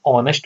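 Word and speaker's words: honest: है साइलेंट होता है तो एन ऑनेस्ट मैन कहेंगे अब यहां पर भी बेसिकली जो स्पेलिंग निकल रही है ना ऑनेस्ट से स्टार्ट हो रही है क्योंकि एच तो साइलेंट है तो ओ जो है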